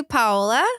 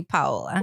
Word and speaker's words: Paola: So it's technically Paola. Okay. But I let people say whatever they want. Like I've gotten used to over the years having said so many different ways. So, but it would be technically Paola.